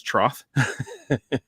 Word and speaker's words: Troth: we work internationally called the truth some people pronounce it wrong it's Troth because the way it's spelled um I currently